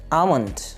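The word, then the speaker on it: almond: Next word है आमंड। इसमें एल जो है वो साइलेंट है तो लफ्ज़ है आलमंड नहीं है बल्कि आमंड, आमंड, बादाम।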